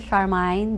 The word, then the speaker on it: Charmaine: my guest for today is charmine do you pronounce it charmine um yes charmine charmine Duran when she came over but now